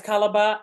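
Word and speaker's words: Calabar: carnivals and I see Nigeria has calabra I'm pronouncing it correctly calabra calaba yes calaba and I would love to do that next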